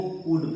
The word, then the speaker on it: could: COULD को कूड पढ़ा जाता है और WOULD को वुड पढ़ा जाता है। आप देखिए कि OU और D के बीच में जहां जहां L है ये साइलेंट हो गया है।